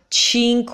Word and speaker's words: Cinque Terre: the worst ways tink we tyreme yeah cheap cinque terre I think so Cinque you have to